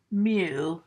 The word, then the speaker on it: mu: to symbolize with the Greek letter mu it's pronounced mu the formula for that would be X1 plus